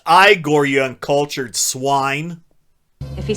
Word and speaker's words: Igor: him all anytime eigor it's pronounced igore you uncultured swine if